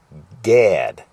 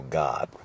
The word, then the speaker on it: Gad: say it in English k a a a Gad Gad but in Hebrew a is pronounced like an A so God so actually it's interesting because just made me